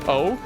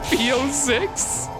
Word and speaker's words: P06: his name is supposed to be said like Po you let me go on hours of stream of inscription calling him P6 and now you're telling me it's pronounced PO